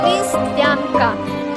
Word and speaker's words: Листвянка: Alina, can you pronounce this town in Russian? Листвянка.